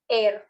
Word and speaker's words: heir: My cousin Daniel is the only heir to my uncle's fortune. Wow, betul. Perfect. Yes, berarti yang silent adalah Heir.